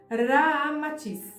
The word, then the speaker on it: Ramatís: Unindo-se Rama e Atis, ou seja, Sita, ao inverso, então resulta Ramatiz, como realmente se pronuncia em indochinês.